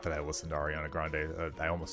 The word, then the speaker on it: Ariana Grande: like, "Oh, well, that's that's the latest from Ariana Grand." Not that I listened to Ariana Grande. I almost said her name wrong, which proves that I really don't listen